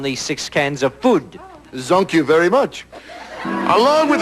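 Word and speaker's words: zonques: french mongrel you know it's spelled z-o-n-q-u-es this mongrel is called a zonk but you have not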